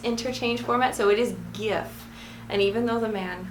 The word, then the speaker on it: GIF: not giraffe --ax interchange format so it is gif and even though the man who invented it call them gifs that does not make him right all right